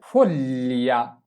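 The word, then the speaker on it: foglia: এরপরে ফলিয়া, ফলিয়া, ফলিয়া মানে হচ্ছে পাতা।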